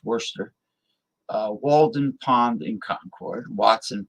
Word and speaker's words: Worcester: Westfield Lake Quinn sagamond in Worcester spelled like War chest there was worser Walden Pond in Concord